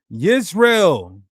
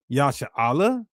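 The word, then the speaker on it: ישראל: Transliterates the sound Yisrael. Not Yashar'el. And with the hieroglyphs, it could have came close to Yashar'el.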